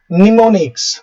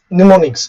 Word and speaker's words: mnemonics: Here M is silent.